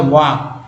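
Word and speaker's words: walk: उसके बाद देखिए एल के में जो एल साइलेंट है, इसका उच्चारण होता है वॉक, वॉक, वॉक बोलते हैं, वॉक नहीं कि वॉक, वॉल्क बोलते हैं, वॉक बोलते हैं।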